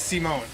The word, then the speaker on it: Simon: I gotta remember how to pronounce his name. It's Simone.